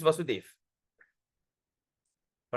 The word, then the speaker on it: Vasudeva: So if there's a dash on top here, is Krishna, Vasudeva. But when there's no dash, okay, when there's no dash, it is called Vasudev.